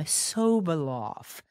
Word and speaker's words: Sobolov: pronunciation of his name, Sobolov. So polite, he didn't want to correct me while we were recording. So not sob, like crying, sob, like if you said it's so bright, but we're interrupted. Sobolov.